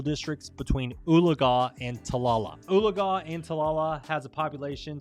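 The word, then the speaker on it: Oologah: here and we're going to be looking at uliga so that's uh that's how you pronounce that this actually be very good for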